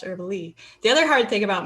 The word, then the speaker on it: Erbele: So ErbyDraws is based on my last name, which is Herbally, but it is spelled ERBELE. So everybody pronounces it herbal, and for whatever reason, my whole family says it's pronounced Herbally.